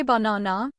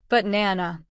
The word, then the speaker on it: banana: But do we say banana? No. That sounds like a robot. We stress the middle. The other 2 become schwas. But nana.